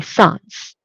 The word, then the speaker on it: sans: In English, we don't really use the French pronunciation of so we just say sans, right?